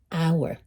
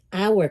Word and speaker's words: hour: Hero comienza con H, hour comienza con H, pero aquí se pronuncia y aquí no.